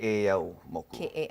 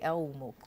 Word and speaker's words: Keʻeaumoku: So you kind of emphasize the middle part then, yeah, right? Keʻeaumoku. Keʻeaumoku.